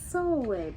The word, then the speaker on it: Sulwe: Sulwe by Lupita Nyong'o.